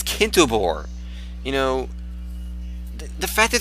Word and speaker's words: Kintobor: Like, these people are getting the wrong, like Kintober, you know? Kintober is Kintobor.